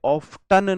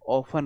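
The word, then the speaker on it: often: इसमें T silent होता है। इसे ऑफटन नहीं बोलते हैं। इसे ऑफन बोलते हैं।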